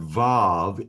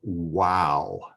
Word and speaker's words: Vav: Biblical Hebrew Study Guide, the word Vav is called wow. Instead of a V, it has the W sound. And I'm going to disagree with that, and I'll explain why in a few minutes.